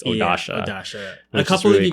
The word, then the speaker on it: Odasha: their eyebrows are blocked I was mispronouncing odasha's name I thought it was just O A but it's odasha and a couple of